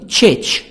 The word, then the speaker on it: church: A church American النطق البريطاني church. church نخلي الار silent نقول a church، لكن الأمريكان a church.